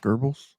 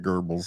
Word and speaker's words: Goebbels: I've always Ah, pronounced it Goebbels. So yeah, Goebbels. I've it always heard it as Goebbels. So rhymes with gerbils.